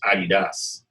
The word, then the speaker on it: Adidas: And it's famously known as the home of Adidas and Puma. Or as Americans call it Adidas, but the proper pronunciation is Adidas.